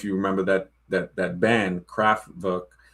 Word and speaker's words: Kraftwerk: that that that band, Kraftwerk. W because the W is pronounced as a V.